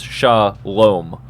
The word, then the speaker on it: shalom: actually pronounce it out so it's sha loam right not shalom shalom is how you would say it so like